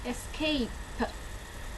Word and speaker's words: escape: S, K, A, P, and I don't pronounce the E. That's the magic E. It's silent at the end of the word, and it would be escape, and it's made by the letter combination A, consonant E.